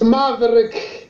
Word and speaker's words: Maveriq: you pronouncing are you pronouncing name how you pronounce your name it's maverick it's maverick marvel marvel marvel that sounds like